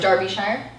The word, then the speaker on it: Darbyshire: say your last name Darbyshire Darby okay no it's Darby shk it's not Darby has everyone has everyone